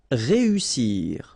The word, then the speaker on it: réussir: Then éviter, établir, réussir. Okay, so here, vowel, second vowel here, and then double S. So in that case, you've got to pronounce it like a real strong S. S.